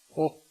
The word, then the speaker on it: och: Och. Which is pronounced just O in everyday speech.